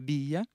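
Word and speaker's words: villa: По-испански «вилла» — это «бия». Вот, двойная «л» читается как и краткая.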